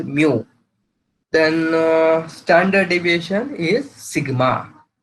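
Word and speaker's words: μ: It is a Roman alphabet, pronounced as mu.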